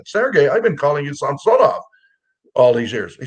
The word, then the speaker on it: Samsonov: team I said Sergey I've been calling you samsonov all these years he says well you've been pronouncing it right well I said well why